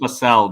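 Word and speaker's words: Facel Vega: I think it's pronounced Facel, by the way. Facel. You're pronouncing it like I like fecal.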